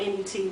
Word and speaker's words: Nut: So Shu and Tefnu had two children, Jeb, the earth god, and Nut, the sky goddess, or it's spelled N-U-T, but I believe it's pronounced Nut, pronounced as Nut.